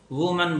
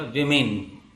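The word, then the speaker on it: women: WMON है, इसको वुमन बोलते हैं और ये बन जाएगा विमेन, प्रोनाउंसिएशन भी चेंज होगा, विमेन।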